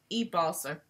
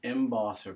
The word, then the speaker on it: embosser: M wants to know Chuck what is an ebosser I'm sorry what is an ebosser that's the